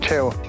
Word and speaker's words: Chievo: How do you say Chievo in local dialect? Chievo.